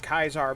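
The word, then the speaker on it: Caesar: ketra before but i never knew it was pronounced kaisar before either so i was just like okay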